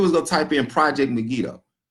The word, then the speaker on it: Megiddo: little type in project Megiddo you know which is what you get or you could say mega do no matter how you pronounce it but it's in the